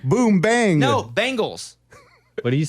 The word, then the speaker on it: Bengals: cinnati Bengal Bal Bangles no you're wrong it's Bengals like I'm saying you're saying bang like boom bang no Bangals what do you say Bengal you're saying the